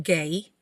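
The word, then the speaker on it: gai: So this G-A-J, I believe, is pronounced gay.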